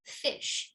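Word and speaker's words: ghoti: So technically speaking, this, you could make an argument that it could be pronounced fish in English.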